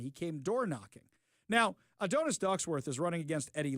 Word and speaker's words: Adonis: Adonis? Yeah, that's how you pronounce it.